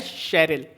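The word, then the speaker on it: Cheryl: गलत प्रोनाउंस करते हैं चरल पढ़ते हैं चेरल नहीं होगा इस वर्ड का करेक्ट प्रोनंसिएशन होता है शेरल ठीक है इस वर्ड का करेक्ट प्रोनंसिएशन होता है शरल तो इसे चरल ना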